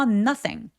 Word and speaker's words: nothing: So nothing 아니고요. 얘는 발음이 but 하고 발음가 똑같아요. 그래서 빠르고 뾰족하게 단 모음으로 nothing이라고 또렷하게 짧게 발음해 주세요.